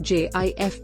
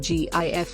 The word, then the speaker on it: GIF: two G GF pronounced JF by many including its designer pronounced GIF with a hard G by many many others stands for graphics interchange